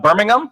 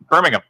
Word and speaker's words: Birmingham: Live from Birmingham. Did I say it right this time? Birmingham.